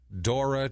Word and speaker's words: Dora: better known as Mickey Dora okay Mickey Dora he's a d o r a d o r a like the Explorer expor like the Explorer